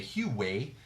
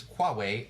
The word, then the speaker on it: Huawei: and Huawei I just I always laugh when I pronounce that because I want to say hue way it's qua way all working on new